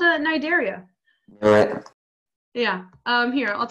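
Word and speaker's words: Cnidaria: is actually called uh-huh the C is silent Thank You Ivan yeah it's called a nidaria alright yeah I'm here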